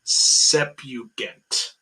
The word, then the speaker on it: Septuagint: Septuagint. The T silent.